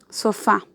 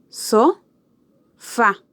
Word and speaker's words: sofá: Sofá. So-fa. ¿Dónde está la sílaba tónica? ¿Cuál de estas dos sílabas tiene mayor acentuación, tiene más intensidad? Fa, ¿verdad? Por eso decimos que fa es la sílaba tónica de sofá.